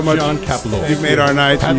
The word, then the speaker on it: Kapelos: Kapelos. A.K.A. John Kalipilos. Say it right, goddamn. Kapelos.